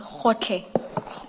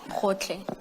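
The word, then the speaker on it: Gotlhe: Can someone who is Sotho Tswana speaking please pronounce that for us? Advocate Powe. It's Khotle. Khotle.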